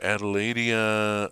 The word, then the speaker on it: Adelaidia: So Adelaidia, like so-called Adelaide, better known as Dardania in Australia.